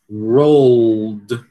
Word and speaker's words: rolled: Então a gente tem que pronunciar o L, né? Veja que vai dizer road, road, é muito fácil, né? Mas aí a gente vai estar dizendo outra palavra, né?